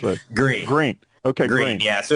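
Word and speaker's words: Gruene: Gruen or Green? How do you pronounce it? Green. Okay, Green. Yeah, so it's a name of German origin, so pronounced Green.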